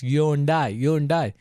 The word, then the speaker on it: Hyundai: Day, Hyundai, I. So it's Hyundai. Hyundai means, it's the car company. The meaning is future, right? Modern. So Hyundai.